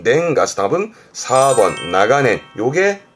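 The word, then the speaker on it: 長年: 근데 뒷글자가 년자는 발음이 냉가스, 답은 4번 나가넨.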